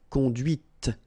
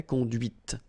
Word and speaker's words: conduite: and then the feminine, conduite. Okay, so here you can listen to this t, t, okay, conduite.